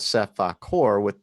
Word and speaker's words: Sefakor: it was spelled out Sefakor and it always sounded like the R was missing when she says, she goes Sefako.